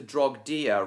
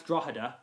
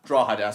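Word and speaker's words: Drogheda: to 6'2 in gauge and the Dublin to Drogdia railway used 5'2 in gauge. That's Drawa. Drawa, sorry.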